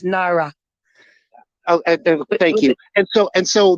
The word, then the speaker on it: Naira: I apologize in the pronunciation. No, with the N, it's Naira.